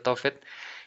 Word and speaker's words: Tofet: De acuerdo con la pronunciación masorética, resulta de asignarle las consonantes tefet, bueno, las vocales que dan ese sonido Tofet, y que se podría